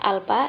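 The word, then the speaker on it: α: Simbolnya A, dibacanya alfa, yaitu taraf signifikansi uji.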